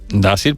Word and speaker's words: Dácil: Dácil, pues canario también. ¡Y bien! Se pronuncia fácil.